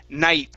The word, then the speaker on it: night: And at the end of night, instead of pronouncing the T, we're going to say night, okay? And your tongue is going to stop at the top of your mouth, okay? You're going to pronounce night. Half of the T sound, night.